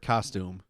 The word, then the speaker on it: costume: you say the word costume costume I've heard so many people say it like costume really like emphasized that you um like fume a costume I don't like